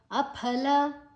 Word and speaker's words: ಅಫಲ: ಯಷ್ಟವ್ಯಮೇವೇತಿ ಮನಸ್ ಸಮಾಧಾಯಸ ಸಾತ್ವಿಕಹ ಅಫಲ ಪ ಮ ಮಹಾಪ್ರಾಣ ಫೋರ್ಸ್ ಆಗಿ ಹೇಳಬೇಕು ಫ ಅಲ್ಲ ಫ ಬಾಯನ್ನ ಮುಚ್ಚಿ ಫೋರ್ಸ್ ಆಗಿ ಹೇಳಲಿಕ್ಕೆ ಅಫಲ ಕ ಎರಡು ಕೂಡ